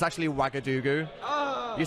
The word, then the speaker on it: Ouagadougou: It's actually Ouagadougou. Oh. You spell that OuagaG.